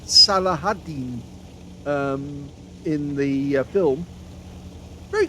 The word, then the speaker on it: Saladin: the kill on the saladine notice how I'm pronouncing that now that's from uh Kingdom of Heaven actually I seem to record him pronouncing it salahadin um in the film